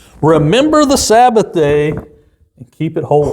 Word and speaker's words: Sabbath: The Sabbath, not Sabbath. The Sabbath. You're putting the wrong emphasis on the wrong syllable there. Syllable. It's Sabbath.